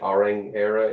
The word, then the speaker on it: Orang Éire: unique name for the club in my right auring era is that where you're pronouncing it yeah yeah quite quite unique but